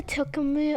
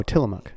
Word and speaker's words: Tillamook: Or another one was so do you know the Tilkamu? I don't know how to pronounce it. The Tilkamilk or something? The cheese brand? I don't. Oh, Tillamook. Tillamook. Yeah, that's a city in Oregon.